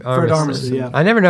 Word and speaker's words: Armisen: Fred Armisen. Armisen, yeah. I never know how to say his I name. think it's Armisen?